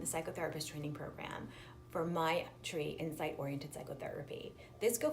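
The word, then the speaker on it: Maitri: Sanskrit work Sanskrit word my tree ma I TR I it means Universal loving-kindness with the self and it's pronounced like my tree also in my tree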